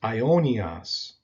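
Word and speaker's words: αἰώνιος: The next word down on our list is the adjective for eternal, and it's pronounced aionios in the masculine, or when it's a neuter adjective, it's aionion.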